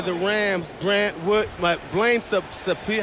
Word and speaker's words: Sapia: Grant Wood, Blaine Sapia, how you pronounce his name?